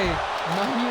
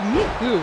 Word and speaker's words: Miyu: Huge lariat there again by Mayu Inoue. Miyu Inoue. Is it Mayu or is it Miyu? It's Miyu, and it's spelled with an I as well.